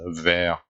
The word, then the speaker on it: vert: And the second one means green, but they are pronounced the same in French. We pronounce them as vert.